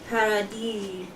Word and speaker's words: Paradis: Paradis. Oh, so it's not Paradise.